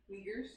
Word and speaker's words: Uyghurs: How you pronounce that again? Uyghurs. Uyghurs? Well, that sounds like a very naughty term. Uyghurs.